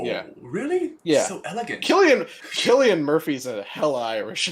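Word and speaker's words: Cillian: you say his name did you say sicilian murphy it's killian murphy killian are you me yeah it's killian it's not silly murphy my life no i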